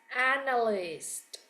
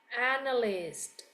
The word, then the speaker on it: analyst: Okay, so the one underline, okay, the green underline word here is pronounced as analyst. Okay, with the T, analyst. Meanwhile, the one written in red is pronounced as analyzed.